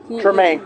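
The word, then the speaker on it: Tremé: Tremaine, yes. Tremaine. You know how I know how to pronounce most of those words?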